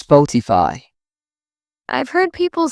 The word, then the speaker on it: Spotify: People often call Spotify with stress on the fi. It's Spotify.